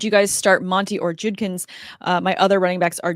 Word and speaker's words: Judkins: It's Quinshawn Judkins.